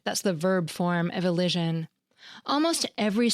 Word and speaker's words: elision: louder, or higher pitch, as in grammar, where the first syllable is stressed, or elision, when the second syllable is.